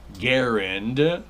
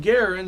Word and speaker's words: Garand: Again, an example of uh well, we got people who are like say historians and they say John Garin said that his name rhymes with Aaron and that's the way to do it.